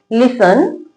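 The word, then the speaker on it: listen: Word के लास्ट में टी ई एन लिखा हो तो टी साइलेंट रहता है। कैसे पढ़ेंगे? लिसन often often सोफन।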